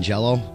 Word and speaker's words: Jelly: Despite the spelling difference of jelly and jello, it's still pronounced jello. The band changed its name due to legal pressure from the owners of Jello trademark and Kraft Food,